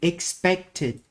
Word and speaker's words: expected: So expect has a T at the end. So when we add ed in, it will be expected.